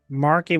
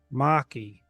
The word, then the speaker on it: Maki: Oh, like Marky Mark? No, there's no R in this. Maki.